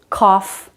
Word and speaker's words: cough: But there are some exceptions to this rule. Cough, rough, tough. There, GH does make a sound, it's the F sound.